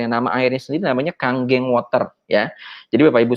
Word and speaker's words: Kangen: nama airnya Celine namanya Kang geng water ya Jadi Bapak Ibu sekalian dan juga sahabat-sahabat ini dibacanya Bukan Kangen ya kalau kangen mah rindu ya saya tadi ngobrol